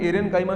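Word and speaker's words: aerenchyma: एयर, अगर हम एरेनकाइमा शब्द को भी बोलेंगे ना तो इसमें उच्चारण आएगा एयर का।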